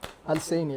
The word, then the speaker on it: Alsaini: Yo, By the way, my name is Alsaini. Hi. You know? Alsaini, that's how you say it. Alsane. Alsaini. Alsane. Yes.